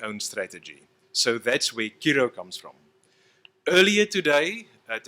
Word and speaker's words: Curro: say, welcome Chris from Curro. Now, the correct pronunciation in Latin is Kiro, which means I, the